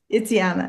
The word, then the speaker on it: Jana: hi Colleen hello hi Yana how are you am I pronouncing your name correctly Jana it's Jana yes Jana okay yeah yeah yeah